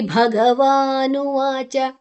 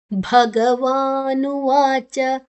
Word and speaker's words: ಭಗವಾನುವಾಚ: ಶೋಡಶೋಧ್ಯಾಯಹ ಶೋಡಶೋಧ್ಯಾಯಹ okay Shri ಭಗವಾನುವಾಚ ಶು ಮತ್ತೆ ರಿ ಎರಡು ಅಕ್ಷರ ಸೇರಿದೆ ಭ ಮ ಮಹಾಪ್ರಾಣ ಭಗವಾನುವಾಚ ಭಗವಾನುವಾಚ ನುವಾಚ ಓಕೆ ಅಭಯಂ ಸತ್ವ ಸಂಶುದ್ಧಿರ್